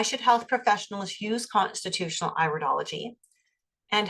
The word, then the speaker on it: iridology: pronounced idology not iridology it's iridology it's an iris okay and so with